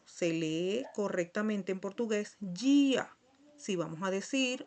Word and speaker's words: dia: Entonces, aquí se dice, podemos leer día, pero no, se lee correctamente en portugués dia.